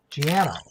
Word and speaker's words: Gianna: check it out your name is pronounced G Anna Gian Gianna well thank you Jennifer